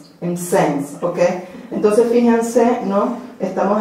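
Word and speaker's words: Mtsensk: Lady Macbeth y el impronunciable, no sé cómo. Sensk. Lady Macbeth de Sensk. pero hay como 50 consonantes y una N, ¿no? Entonces, Lady Macbeth de M-T-S-E-N-S-K. Entonces, pronunciaremos como Lady Macbeth de Sense, ¿ok?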